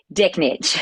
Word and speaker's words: Dechnicz: My god, I was going to say, how do I pronounce? What's your last name? Dicknich.